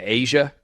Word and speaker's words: A'ja: player whose name is a apostrophe J a pronounces her name Asia is that what we